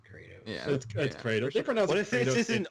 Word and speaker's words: Kratos: move over to China his name is pronounced Kratos and not Kos God